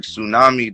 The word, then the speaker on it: tsunami: And I'm like, Tsunami, the T in Tsunami is silent, you feel me?